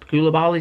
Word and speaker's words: Koulibaly: So next up we're going to be talking about Koulibaly, is how you say his name.